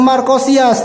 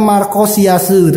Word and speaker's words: Marchosias: jadi ini adalah gandem markosias teman-teman markosiasu ya Jadi kalau bacanya markosiasu teman-teman seperti itu aja Nah untuk kotaknya tadi